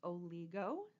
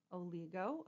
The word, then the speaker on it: oligo: All right, next up, this one might look a little bit different from a word you've seen before, but it is pronounced oligo, oligo, O-L-I-G-O.